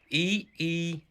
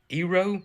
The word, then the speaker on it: eero: storm shelter, and it's called EERO. Eero? Is that how you say it?